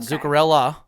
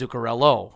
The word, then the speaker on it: Zuccarello: It's not Zuccarella. It's Zuccarello. It's with an O.